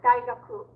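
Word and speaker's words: 大学: Oh, so you don't put the stress on ku.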